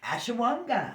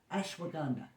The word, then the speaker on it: ashwagandha: is nice okay um how do we say this last next one ashawanga I'm okay Ash did I say that right I don't know ashwagandha okay that that's it I said it wrong the first time I love this one